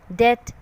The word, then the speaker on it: death: Because in these words B is sitting next to the letters M and T.